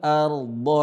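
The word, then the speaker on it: الأرض: Ketika ada ra sukun, sebelumnya ada fathah, maka dibaca tebal ra-nya. Cara bacanya adalah naj'alil ard.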